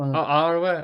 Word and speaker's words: Arwen: Erwin, the one's with Aragorn. You Yeah. think he's on about Eowyn? Who was you? Erwin. Oh, Arwen.